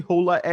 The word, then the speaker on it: HollaEx: Am I pronouncing that correctly? HollaEx.